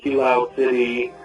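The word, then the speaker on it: Kiloude City: instead of just, which the Friend Safari in Kilo City, that's how you pronounce it, that is not really an after game, it needs a better after game.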